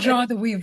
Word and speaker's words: joie de vivre: But And that's you what we, you talk about joie de vivre. Am I pronouncing it right, by the way? yeah, Joie de almost, vivre. yeah. So you talk about joie de vivre, the joy of living.